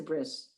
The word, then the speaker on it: bris: my son's brit mila that's a bris we we say in english for bris because that's from the ashkenazic hebrew because that tab used to be a sabe so we pronounced like an s brit so we have